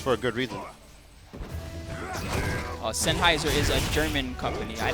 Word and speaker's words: Sennheiser: Thanks to the fine folks at Sheiser. Sennheiser. Is it Sennheiser? Somebody was making fun of me earlier. Sennheiser. Is it Sinheiser? I'm saying Sheiser. It's Sennheiser. That's the correct way to pronounce it.